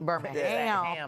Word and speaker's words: Birmingham: Because no one from Alabama says Birmingham. Yeah. Yeah. They pronounce the ham. Birmingham. The ham will be present.